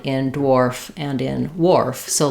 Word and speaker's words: wharf: or War Warf um usually if you see it this way that kind of translates the H is silent like it is in words like what or where also in Warf um and we just have that o r sound then dwarf even though